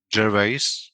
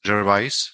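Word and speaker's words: Gervais: the main character is played by uh Ricky Jerves. Jervise, sorry, I was trying to train how to pronounce it.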